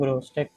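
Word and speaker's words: Grotesque: वैसे प्रोनाउंसिएशन इसकी मैं तो यही करता हूँ ग्रोस्टेक, कुछ लोग डिफरेंट भी करते हैं, शायद आपको भी ये प्रोनाउंसिएशन पसंद ना आए, लेकिन मुझे जो है यही ठीक लगती है, तो मैं इसे ग्रोस्टेक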